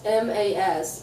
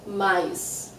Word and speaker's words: mas: In some places of Brazil, we pronounce M-A-S very clearly, mas. But in many places, we say mais. So there's an I that actually doesn't exist in the word, and that happens when